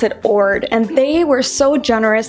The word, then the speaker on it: Jord: this watch this is from a company called Ord but it's spelled George J Ord but you pronounce it Ord and they were so generous to send me